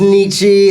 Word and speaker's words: Nietzsche: A lot of people think it's pronounced Nietzsche.